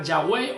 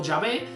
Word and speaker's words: Yahweh: Luego añadieron la palabra A y E para que se pronunciara Yahweh o Yahvé, que era el nombre como lo pronuncian algunos judíos, algunos hebreos, pero en español se tradujo como la palabra Jehová, JHVH, que viene a ser lo mismo.